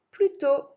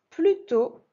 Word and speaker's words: plutôt: Plutôt, comme ça se prononce avec un T muet, un chapeau sur le haut, qu'avec, donc là c'est QU apostrophe avec, le réveil.